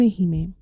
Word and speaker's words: hime: named this podcast anime hee for a reason he is spelled h i m e that is the word in Japanese that translates to Princess and the reason for